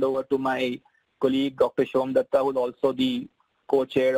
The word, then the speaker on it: Somdutta: No, it's pronounced as Somdutta. Well, I know it's a tongue twister, so it's easier to.